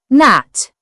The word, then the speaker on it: gnat: The gn sound usually has a silent g when it appears at the beginning of words. The n is pronounced, and the g is not heard. Examples: gnome, gnaw, gnat.